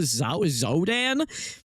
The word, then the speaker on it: Xodan: Zodan.